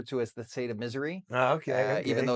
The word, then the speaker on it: Missouri: the lovingly refer to as the state of Missouri. Okay. Even though it's technically pronounced Missouri, right?